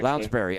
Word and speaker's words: Lounsbury: I'm sorry for the mispronunciation. Lounsbury. Lounsbury.